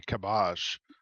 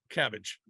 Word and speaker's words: Cabbage: somebody on Twitter said you're supposed to pronounce it with a French like Trey kabash sounds like cooler no cabbage tree cabbage uh shohei is 36th